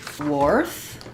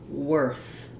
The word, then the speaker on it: worth: In the word worth, the letters OR say the sound, just like in the word were. So even though we have an OR spelling, there's no OR sound.